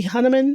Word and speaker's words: Hunnam: Unhinged, but also Charlie Hunnam.